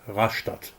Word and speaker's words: Rastatt: about 500 meters to Rastatt station. Now I explain the difference in pronunciation between High and Badisch German. In High German you say "Rastatt" in Badisch: "Raschtatt" :-) Back to tunnel construction.